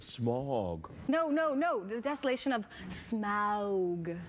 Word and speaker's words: Smaug: The desolation of Smaug. Did you say it like that? Smaug? Not smog. No, Smaug. Who says smog?